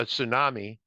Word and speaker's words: tsunami: it turns into a tsunami Margaret pronounced it tumy not a Tumi it's a tsunami thank you uh that